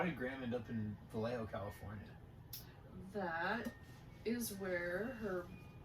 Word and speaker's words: Vallejo: Vallejo, California.